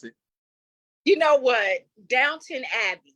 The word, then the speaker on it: Downton Abbey: it you know what Downton Abbey not down to Downtown Abbey okay not look I